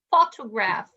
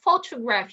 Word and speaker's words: photograph: photograph so photo photograph here how many syllables do we have faux two grams perfect we have three which one is higher or stressed the first one yeah perfect the first so this is a photograph you see i see